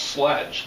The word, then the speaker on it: sledge: Okay, but it is pronounced sledge. That's an English word.